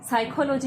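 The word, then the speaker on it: psychology: और साइकोलॉजी में तो देखो एकदम सामने ही नजर आ रहा है, पी का कोई उच्चारण हो नहीं रहा, पी एकदम शांत है अपनी जगह में, तो पी एकदम साइलेंट है।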